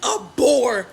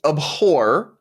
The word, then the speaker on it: abhor: want you to violently abore men you need to hate them like it's actually abhor is the correct pronunciation of that word but more importantly this